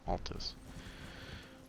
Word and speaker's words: Altus: Yeah, Altus.